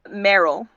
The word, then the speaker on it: Merill: pronounce the name again uh Merill yeah like Carol but with an M yeah I know no